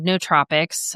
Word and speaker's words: nootropics: And I've always been a big fan of nootropics. Nootropics is how you pronounce it.